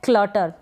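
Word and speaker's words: clutter: है, क्लटर या क्लटर, ये जो लास्ट में आर आता है इसको अगर आप नहीं भी बोलेंगे, जैसे यहाँ पर मैंने दोनों प्रोनाउंसिएशन बताए हैं, बोलते हैं तो भी चलता है और ना बोलते हैं, ना बोले तो भी चलेगा, यानी क्लटर, इस तरीके से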